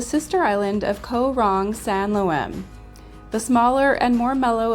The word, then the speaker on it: Sanloem: Sanloem. Sanloem.